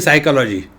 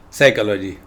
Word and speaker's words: psychology: English language English language p is silent in psychology what is the logic